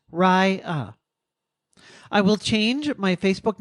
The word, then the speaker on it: Rya: I've taken the name Raya, pronounced Raya.